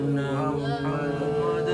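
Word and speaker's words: مُحَمَّدًا: মোহাম্মদ মোহাম্মদ মোহাম্মদার মোহাম্মদ এখানে মোহাম্মদার হবে মোহাম্মাদুর না অনেকে মোহাম্মদুর বলি দিস ইজ দা রং হাজার এখানে কি হবে মোহাম্মদার হুম বলেন মোহাম্মদার মোহাম্মদ রাসুলুল্লাহ রাসুলুল্লাহ সেকেন্ড বি কেয়ারফুলি লিসেন আশহাদু আন্না মুহাম্মাদার রাসুলুল্লাহ আশহাদু আন্না মুহাম্মাদুর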